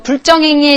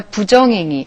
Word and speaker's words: 부정행위: 또 컨닝하는 거 불정행위 했어. 너 혼나야 돼.가 아니라 부정행위. 자, 발음상 리을이 탈락한 거니까 자, 이 개념 다시 볼게요. 디귿과 지읒으로 시작되는 말 앞에서만 부라고 읽히는 한자입니다.